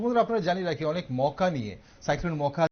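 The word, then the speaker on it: Mocha: ওকে দর্শক বন্ধুরা, আপনারা জানি রাখি অনেক মৌকা নিয়ে, সাইক্লোন মৌকা যেটাকে অনেকেই মোচা বলছেন, মোচা সাইক্লোন মোচা বলা হচ্ছে, ইয়েমেন নেম। হ্যাঁ, ইয়েমেন থেকে এই নামটা দেওয়া হয়েছে এবং এটার উচ্চারণটা মৌকা, সাইক্লোন মৌকা।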